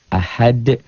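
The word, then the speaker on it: أحد: Ahad. Jadi ini tuh asalnya domah tain menjadi sukun bukan dalam tulisan tapi dalam bacaan. Ahad bacanya ada e-nya. Kayak bola yang mantul jatuh tidak langsung diam, mengeper, mengembal.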